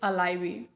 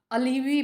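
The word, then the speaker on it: alibi: My first word is अलाइवी. इसको सुन के तुम्हें थोड़ा अजीब लग रहा हो कि अलाइवी ये कैसा वर्ड है. एक्चुअली मैंने भी स्टार्टिंग में इसे अलीवी प्रोनाउंस किया था, लेकिन इट्स एक्चुअली मीन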